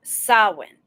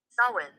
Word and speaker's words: Samhain: Samhain. Now, that's how it's spelled. And I promise you, this is how it's pronounced. Samhain.